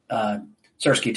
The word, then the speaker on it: Syrskyi: Some held derogatory signs depicting slices of cheese, a play on the general's name, which rhymes with the Ukrainian word for cheese. Syrskyi, go away, the crowd chanted.